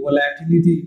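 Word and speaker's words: volatility: The relative relative वॉलेटिलिटी ऑफ the benchmark और relative वॉलेटिलिटी वॉलेटिलिटी ऑफ the benchmark वॉलेटिलिटी सही pronunciation है यानी ठीक है जो है ये relative वॉलेटिलिटी वॉलेटिलिटी ऑफ the benchmark ये भी एक फैक्टर है.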